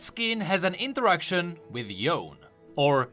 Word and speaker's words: Yone: Thresh and that skin has an interaction with yone or yone as they pronounce it but there's more there was also